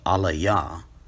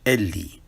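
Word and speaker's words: אלי: So what this actually says is not Alaya, but rather Eli.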